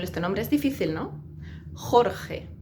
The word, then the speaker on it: Jorge: Jorge. Uf, tanta J. Jorge.